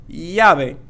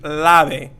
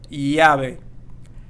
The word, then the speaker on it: llave: be very challenging because we had the double L here, so it's going to make the Y sound there. Llave, and it's not going to be lave.